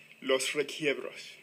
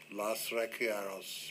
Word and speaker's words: Los Requiebros: Now, tell me how to pronounce it right. Los Requiebros. Los Requiebros.